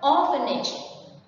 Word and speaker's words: orphanage: Next one, orphanage. Orphanage is a noun and the stress is on the first one.